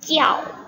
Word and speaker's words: 叫: kita pelajari di minggu lalu ya, Nana ya。对，第一个是你，这个是我，就是叫，哎，你们不要把这个字读成叫或者叫呀，虽然这里有一个鸡，这就是鸡鸡呀，ini bacanya jiao ya， walaupun ini j tapi anaknya bacanya jiao